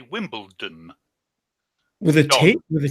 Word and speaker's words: Wimbledon: but I would say Wimbledon with a date with a team with it with a D for a delta because I will yeah Wimbledon that wimpleton as he was saying